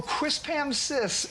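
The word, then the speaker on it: Quispamsis: the name of this town how do you pronounce it quis oh quis Pam sis New Brunswick now it is a word that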